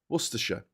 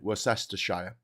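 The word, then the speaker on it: Worcestershire: So there's a place in the UK called Worersha although you'll probably pronounce it Westershire and there is a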